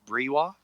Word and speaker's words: Breiwa: And at the beginning, I just wanted to get your pronunciation, because I've been saying Breiwa, but is it Breiwa?